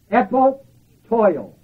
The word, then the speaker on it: epopteuo: And the final usage of this word beholding in the Word of God is this word, EP, OP, TEUO, epotoil. It's spelled EP, OP, TEUO.